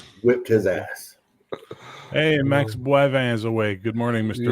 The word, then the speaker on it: Boivin: Boivin. Bois. So bois. So for Americans, BWA, bois, and then vin.